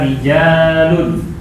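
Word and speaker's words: رِجَالٌ: Jamaknya rijalun.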